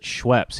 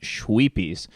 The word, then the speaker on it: Schweppes: people's Schweppes ginger ale only he doesn't pronounce it Schweppes he pronounces it shwee Peas and he finds out